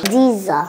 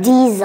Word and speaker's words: diesel: is like that okay this is like a z okay it's like a z d diesel Z and and here you you see the E becomes a z diesel D diesel and this